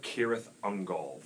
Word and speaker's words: Cirith Ungol: If you have the letter C followed by a vowel sound, it will almost always be a hard K sound. In Elvish. The Tower of Cirith Ungol.